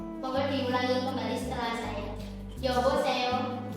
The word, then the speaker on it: 여보세요: 여보세요. Untuk pelafalannya tadi yo antara e dan o menjadi o.